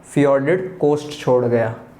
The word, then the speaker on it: fjord: है, उसको बोलते हैं फियोर्डेड कोस्ट, क्योंकि यहाँ पर फियोर्ड बनते हैं, जिसको FJORD भी लिखा जाता है। तो यहाँ पर हो जाएगा फियोर्डेड सी कोस्ट, प्रोनाउंस किया जाता है इसको फ्योर्ड।